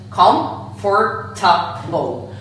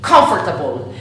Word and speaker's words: comfortable: Comfortable. But when we pronounce this word, we do not pronounce the syllable or. In fact, we say comfortable.